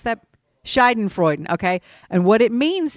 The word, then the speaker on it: Schadenfreude: Schaden, do you know how to pronounce that? Schadenfreude, okay?